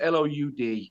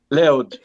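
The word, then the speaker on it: Louth: it's a place called Rd County loud It's pronounced l so if you see it written down it's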